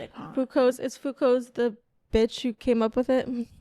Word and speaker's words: Foucault: But if you if you're reading it, it's spelled like fukult, but he's French, so that's He's French.